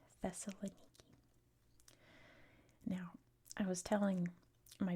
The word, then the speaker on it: Thessaloniki: In English, it's pronounced Thessaloniki. Thessaloniki.